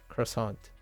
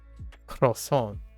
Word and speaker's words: croissant: I can say it, I prefer to pronounce it croissant, right, with the T, as opposed to croissant without the T.